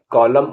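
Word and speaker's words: column: हिम माने स्रोत सीओ एल यू एम एन कॉलम माने पृष्ठ का भाग डी ए एम एन डम माने बदुआ देना टी से साइलेंट होने वाले words H ए एस टी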